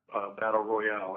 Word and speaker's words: Battle Royale: It's from Japan, and it's Battle Royal, or Battle Royale, as some people pronounce it with the E at the end.